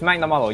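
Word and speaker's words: Magnamalo: i was saying i i i got the name wrong it's magnamollo yes i wanna i i want i want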